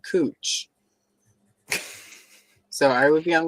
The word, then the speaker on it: Couch: And if you look at the spelling of it, it's couch, but they pronounce it cooch.